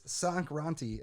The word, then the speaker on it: Sankranti: kind of value grantee no it's sankranti at the very least it's probably sock run suck yeah zac ronti over here listen i'm still saying